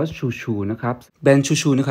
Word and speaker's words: XOUXOU: นี้ มัน คือ อะไร มัน อ่าน ว่า ชัวร์ ๆ นะ ครับ แดง ช่วย